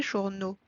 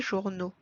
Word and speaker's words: journaux: is J'ai acheté des journaux ce matin. J'ai acheté des journaux ce matin. So in the plural, we need to add O to the noun. And the letter X is silent here.